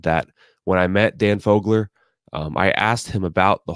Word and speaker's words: Fogler: Fogler.